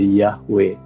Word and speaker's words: Yahweh: kepada nabinya, kepada hambanya, dia memperkenalkan namanya dengan huruf Ibrani, Yod He Waw He. Kemudian saya belajar dari kata itu adalah kalau diucapkan itu menjadi Yahweh, sama seperti ketika kita mengatakan haleluya, itu dari kata haleluya.